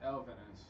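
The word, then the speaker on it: Elvenes: It's Elvinus. Elvinus. Yeah. And we finally got the correct pronunciation of it.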